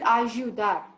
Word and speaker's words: ayudar: Yuca, la yuca, el payaso, ayudar. Okay. Or is it ayudar?